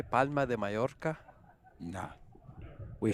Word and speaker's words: Mallorca: say we say palma majorca there you go or some people even say majorca not me though george there's no j it's double l which is pronounced almost like a y in spanish she's been very close